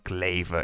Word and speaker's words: Kleve: Well, for now I just show you the views I had from the train between Kleve, or Kleve if I pronounce it in German, to Düsseldorf.